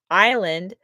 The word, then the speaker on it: island: Silent B, borrowed from Latin, island, silent S, added by mistake, and a myriad of other spellings that whisper of history long past.